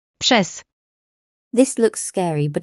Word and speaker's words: przez: Combining R and Z is like the S in measure. An example would be the word through, which is pronounced. Przez.